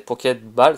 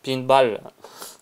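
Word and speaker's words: Poké Ball: Le nom c'est Pocket Ball, c'est pas Pinball comme j'ai l'habitude de le prononcer.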